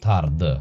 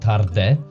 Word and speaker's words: tarde: So, the last syllable, uh, is dropped to a schwa, which is a uh sound, boa tarde. Not tarde, it's dropped to boa tarde.